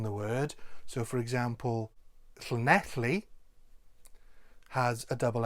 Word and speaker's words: Llanelli: So instead of Llanelli, try Llanelli. If you want to try and get the correct L sound, it's fairly straightforward to do. All you need to do is put your tongue to the roof of your mouth and then exhale.